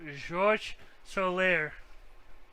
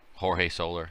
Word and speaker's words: Jorge Soler: Pronounce Jorge Soler. George Soler. No, I don't think so. I think it's Soler. Jorge Soler.